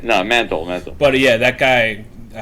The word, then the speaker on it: Mantle: Anthony Dodd Mantle. Oh, I thought there was the L before the T, and I was like, "There's no fucking way that name sounds Mantle. Manlit." No, Mantle.